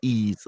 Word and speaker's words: Ys: YZ what's that eight yeah that's eight appreciates pronounced ease it's like why s o Yi's ye-yes eight